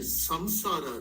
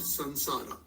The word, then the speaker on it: संसार: अख जी just one quick question yes वी से संसारा राइट नॉट संसारा हां। So when you have a bindi on टॉप ऑफ़ द सर we pronounce S they M संसार yes tradition actually it